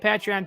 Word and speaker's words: Patreon: are on patreon that's how you say it patreon thank you of course to all of our